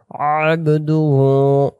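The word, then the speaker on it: عَبْدُهُ: আ এমন আশহাদু আন্না মুহাম্মাদান মুহাম্মাদান মুহাম্মাদান না মুমি পেশ মুহাম্মাদান বাংলাতেযে মুহাম্মাদান আবদুহু আবদুহু এক আলিফ আর আবদু আবদু এমন না আবদুহু ও ওয়া রাসুলুহ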